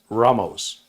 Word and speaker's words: Ramos: way not and the correct pronunciation of my last name is ramos there you go ramos like vamos the man all